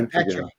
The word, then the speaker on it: Etrigan: Etrigan.